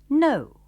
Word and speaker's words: know: Like, Sekarang, kita akan berlatih dengan kata lain, yaitu no. ejaannya K-N-O-W, No.